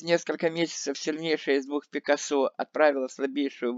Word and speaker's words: Пикассо: По-английски Пикассо, в России произносится на французский манер с ударением на последний слог. Пикассо.